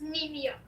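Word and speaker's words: Nemea: too NE nimia nimia nimia okay so it's nimia yeah I would sayia your first tus is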